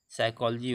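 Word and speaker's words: psychology: साइकोलॉजी, साइकोलॉजी word, देखिए पी एस वाई, इसको हम पी साइलेंट रखेंगे, एस वाई सी एच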